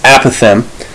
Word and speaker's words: apothem: It's apothem. So the apothem would be G from this point here, the midpoint, and it's the point that's perpendicular to a side here. So apothem would be GH or HG in this case.